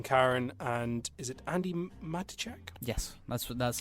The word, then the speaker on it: Matichak: Judy Greer still playing Karen, and is it Andy Matichak? Yes, that's how I would playing pronounce Allison, who are the only real cast members that are of note.